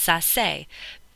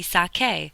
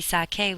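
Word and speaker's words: saqué: It would be pronounced sass. That's not right. We want it to be sake. So in order for it to be sake, we have to change the c to q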